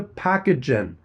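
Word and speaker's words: Pacagen: Thanks to Packagen. This episode is sponsored by Packagen. That's P a ca g-en, pronounced packagen.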